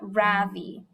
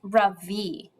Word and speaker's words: Ravi: Beam, I said softly, my voice quivering a little, my name is not Ravi. It's pronounced Ravi.